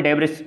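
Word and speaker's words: debris: ये जो रिंग होती है, बेल्ट होती है, इसको ये स्मॉल डेब्रिस, इसको देखो एक इसका प्रॉपर प्रोनाउंसिएशन है डेबरी, ठीक है।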